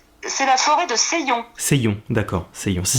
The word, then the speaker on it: Seillon: C'est la forêt de Seillon. Seillon, d'accord, Seillon. Ça s'écrit comment, voilà.